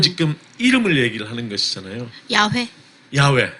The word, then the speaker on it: 야훼: 야훼. 야훼. 예, 또 아도나이. 아도나이는 주님이라는 뜻이지 그 자체가 이름은 아니에요. 영어로 롤드, 주님 이런 뜻이고 또 야훼를 다르게 발음해서 예. 여호와라고 네. 흔히 예. 번역을 하죠.